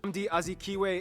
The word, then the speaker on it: Nnamdi Azikiwe: Here you can also find the second busiest airport, Nnamdi Azikiwe. Hear how you pronounce it. Nnamdi Azikiwe International.